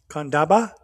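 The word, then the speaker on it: Candaba: Kandaba.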